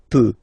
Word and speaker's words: peux: So je peux. Okay, final X not pronounced here. Okay, so you get X, but you don't pronounce it.